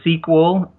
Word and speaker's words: SQL: programming languages and so sequel is spelled SQL is a common programming